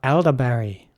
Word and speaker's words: elderberry: Next up, elderberry. Elderberry is spelled E-L-D-E-R-B-E-R-R-Y.